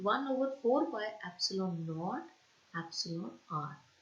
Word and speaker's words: epsilon: और ये जो एप्सिलॉन है इसको हम ऐसे प्रोनाउंस करेंगे EPSILON, इसको कहते हैं एप्सिलॉन।